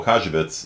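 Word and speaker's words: Łukasiewicz: had absolutely no idea how to do the pronounce the l with a little slash through it um yeah so jan uh kajabits in the 1920s um figured out that even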